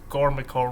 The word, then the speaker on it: Gormaco: I usually pronounce this wrong whenever I say this to him, but it's Gormaco, right?